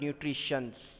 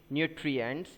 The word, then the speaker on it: nutrients: very correctly very precisely it is not nutritions it is nutrients the spelling is any